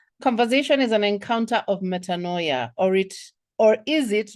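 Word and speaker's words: metanoia: Our word of the day this evening is metaninoia. And the pronunciation for that is metaninoia.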